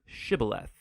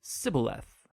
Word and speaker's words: shibboleth: pronounce the Hebrew word shibboleth. It turned out that the Ephraimites had grown up pronouncing that word differently, so instead of saying shibboleth, they would say sibboleth.